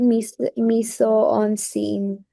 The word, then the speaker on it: mise-en-scène: I don't know how to pronounce this, but miso on scene, something like that as Very well. good. Very good. That's actually a very important technical word. Perfect. So it's called mise-en-scène, right? Mise-en-scène.